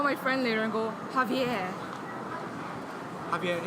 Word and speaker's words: Xavier: Xavier is actually not the right way to pronounce that name. It's actually Javier.